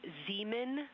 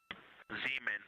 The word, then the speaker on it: Zeeman: We believe that that is Zeeman crater. Zeeman. Okay, and can you say the first letter? I may be pronouncing that wrong.